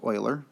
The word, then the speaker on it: Euler: Okay, that name there you see is actually pronounced Euler, mathematician.